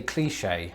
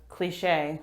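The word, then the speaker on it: cliché: of saying this word for me i say cliche how do you pronounce it cliche i suppose these emphasis differences themselves are becoming quite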